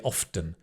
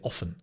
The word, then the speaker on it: often: And the often, I don't pronounce the T. Some people do. They say often. But I think it's easier to say often.